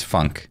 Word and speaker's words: Funk: your last name it's it's the easiest last name to say and the hardest to forget it's funk and if you say